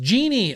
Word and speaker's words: Genie: It's pronounced Genie. Oh, okay. Genie Sims. Genie Sims. Pronounced Genie as in I dream of Genie.